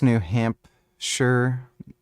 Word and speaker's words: New Hampshire: It's pronounced New Hampshire, not Shire.